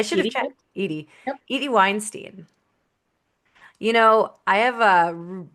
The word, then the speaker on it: Weinstein: And the thing is I always tell people it's pronounced Weinstein, not Weinstein like Harvey. Um, so you can keep that in here. That's fine. Okay. Weinstein. And it's easy to remember because it rhymes.